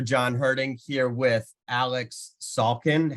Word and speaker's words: Salkin: last name correctly because it's not difficult to pronounce but it's like I usually hear falcon or Sulkin which is close you know I'm not like offended but you got it perfect Sulkin it's amazing oh it's just like I get